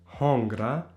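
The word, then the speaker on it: hëngra: For example, if I say I ate in the past tense, I ate, this would be hungra. Hongra. And there the N becomes a hrag. But this happens automatically in your mouth.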